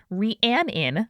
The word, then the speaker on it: Rhiannon: Rhiannon is who is writing in today, she, her, with who said for her name, Rhiannon, like the Fleetwood Mac song.